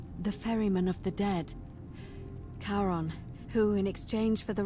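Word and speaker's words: Charon: it's just as you described it only your pronunciation is a little off the name you heard wasn't Karen it was c h a r o n as in Kon the Fairman of the Dead karon who in exchange for the right coin helps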